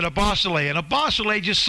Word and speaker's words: Ebosele: name right so how often have people mis pronounced your name when it's a bosolay but what are how i can't even imagine